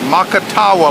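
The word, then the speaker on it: Macatawa: Makatawa Lake, M-A-C-A-T-A-W-A, I think is the way you spell it.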